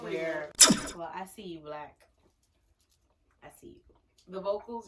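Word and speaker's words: 6lack: It's spelled Six Lack, but it's actually Black.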